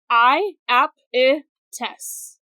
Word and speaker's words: Iapetus: The fact that sometimes his name is spelled with a J at the front does not help, because it's not pronounced differently. It's still said the same.